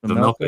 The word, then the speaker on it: Vejmelka: And let's not forget Karol uh uh Vejmelka. Is that how you say it? Vejmelka, yep.